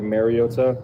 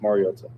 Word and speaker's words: Mariota: Um, I think it's been said over the years like Mariota. Um, which is incorrect and it's pronounced marota.